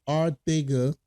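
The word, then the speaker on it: Arcega: And we we just signed JJ Arthega, that's the way to pronounce it, Arthega Whiteside, from the Philadelphia Eagles / Seattle Seahawks.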